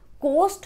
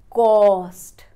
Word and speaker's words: cost: The trick here is that you will break down this O and pronounce it by making it AW, not coast, it is caw-st.